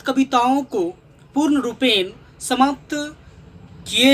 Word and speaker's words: Cowper: दोस्तों आप लोग COWPER का प्रोनाउंसिएशन COPPER जैसा करेंगे। आप लोग पढ़े हैं ना, कॉपर मीन्स तांबा, उसी तरह आप इसका स्पेलिंग करेंगे कॉपर का, तो विलियम कॉपर।